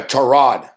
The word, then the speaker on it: Tyrod: change his name but Tyrod Taylor says that everyone's been saying his name wrong it's a tie rod and like even Suzy